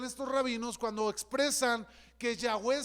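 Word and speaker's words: Yahweh: rabinos cuando expresan que ya wen se pronuncia como la respiración de uno así se pronuncia bueno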